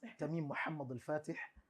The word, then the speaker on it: Tamim Mohammadul-Fateh: Da kuma, or you pronounce the full name for me? Okay. My name is Tamim Mohammadul-Fateh, popularly known as.